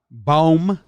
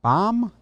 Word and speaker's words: Bohm: Yeah, I like Bohm. Is it Bohm? Is that how you say it? Baum? Alec Baum? You can double check. I want to say I think it's a hard O.